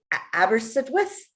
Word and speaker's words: Aberystwyth: Aberystwyth, I think is how you say it.